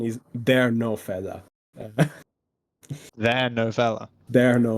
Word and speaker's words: TheRenoFella: then really mad sorry no the the right pronunciation is they no fella they no fella they no F clearly like